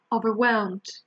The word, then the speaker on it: overwhelmed: stress the first syllable it's actually the second one it's not over well this overwhelmed overwhelmed and the last one